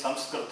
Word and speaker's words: Samskrta: There is no Sanskrit, it is Samskrta only. People they say it wrongly. People who have the Hindi background, They say Sanskrit.